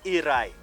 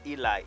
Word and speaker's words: Eri: and Shi and asborn iri that is iri I'm not pronouncing it bad it's not Eli it's iri and arodi or arodi